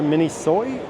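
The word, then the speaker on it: Miniso: here in Columbia I believe you pronounce it mini soy is a store with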